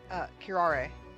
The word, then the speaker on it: curare: How did you pronounce it? Curare.